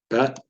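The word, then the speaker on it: בּ: It's pronounced ba, bet.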